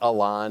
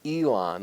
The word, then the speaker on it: Elon: pronounce the school's name I interviewed and I called it wrong for the first day and finally someone when I was given a talk said it's not Alan it's Elon like email and I